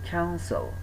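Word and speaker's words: council: এখানে একটা জিনিস বোঝার আছে, সেটা হচ্ছে দেখেন প্রথম অংশের সি এর উচ্চারণে কিন্তু ক আসছে, তাই না? ক আসছে না? সো যখনই ক আসছে তখন এটা হয়ে যাচ্ছে কি, খ হয়ে যাচ্ছে।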